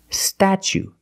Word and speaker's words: statue: second or third syllable the t is pronounced like chicken and change so pronunciation statue statue for the first vowel we use the short ah like black cat sta then we use the CH sound statue for the second syllable we use the long u like Boot and moon ooh together statue this is the